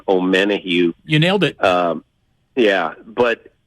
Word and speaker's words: Omenihu: Charles, I'm going to mispronounce his last name, Omenihu.